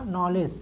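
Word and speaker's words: knowledge: क्योंकि रूप बताया है जब किसी अंग्रेजी शब्द में के के बाद यन आता है तो के का उच्चारण नहीं करते हैं नॉलेज नोक नोट ठीक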